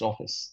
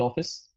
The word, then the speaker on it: Awfis: You pronounce it. Yes. It's office. It's called office.